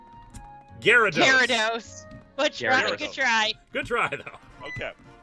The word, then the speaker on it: Gyarados: Because then you can pick one that you actually know how to pronounce. You're doing the G Yeah, one. like damn it. Yargos? Gyarados.